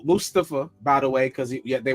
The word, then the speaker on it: Mustafa: Welcome the cop everybody Welcome the cop M Mustafa by the way because they were saying his name wrong Mustafa Ali who used to be a